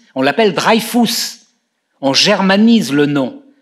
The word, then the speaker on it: Dreyfus: moment de la faire on ne l'appelle pas dreyfus on l'appelle drive tous en germanie zh le nom de la même